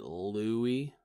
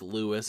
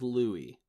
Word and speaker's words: Louis: you first of all I think you pronounced it Louie Armstrong yeah ya think that yeah I think that's right I don't think it's Louis Armstrong Louis Armstrong's my accountant okay Louie Armstrong his name is Louie obviously and you said